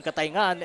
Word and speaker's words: Cataingan: papadala an Okay so ito ito palang ang pronunciation pala ng kataingan kataingan batiin ko rin aking dalawang anak si